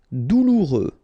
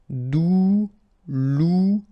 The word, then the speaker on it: douloureux: Douloureux, remember final X not pronounced, so you get this OU together, ou, douloureux, douloureux.